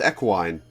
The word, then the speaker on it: equine: Equine is in fact pronounced equine. Huh.